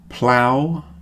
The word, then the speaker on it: plough: The next group are pronounced ow, ow. Plough, drought, and bow.